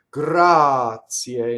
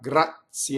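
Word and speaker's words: grazia: a a Regina take Gras CA not gratzi allegra CA Ali Daei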